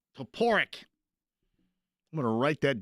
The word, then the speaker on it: Toporek: Toporek. No. Toporek. Gosh darn it. Toporek.